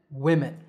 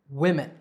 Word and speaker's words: women: And the second is we, men, women. Woman, women.